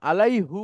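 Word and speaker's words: عليه: আলাই হি, ইয়ারকে সাকিন করে তারপরে পেশ উচ্চারণ করাটা কঠিন, কিন্তু জের উচ্চারণ করাটা সহজ।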